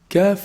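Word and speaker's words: كاف: Kaf is pronounced from the back of the tongue, but it's actually closer to the mouth from the qaf articulation point.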